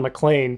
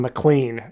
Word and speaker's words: McLean: was about witnessing Don mlan perform American Pion concert I also want to correct my pronunciation it's Don mlan not Don McLean like I said on that episode so I'm kind of